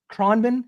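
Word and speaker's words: Khruangbin: Kronben, is that how you pronouncing it?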